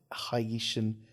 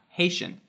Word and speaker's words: Haitian: oaka is a half hayian half Japanese uh mixed race tennis player for people who know how to pronounce words correctly that's half Haitian half Japanese really yeah Haitian Haitian it's it's Haitian okay well so she's